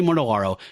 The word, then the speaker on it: Mortellaro: Johnny Romita, and Tony I never say his name right. Tony Mortellaro, L-A-R. Okay, let me try that again. One thing, however, I think Gil Kane, Johnny Romita, and Tony Mortellaro should stay together as the artistic team.